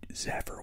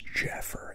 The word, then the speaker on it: Zephyr: I just said Zephyr was Jeffer, and a Z looks nothing like a J, but it didn't stop me from pronouncing it as such, did it?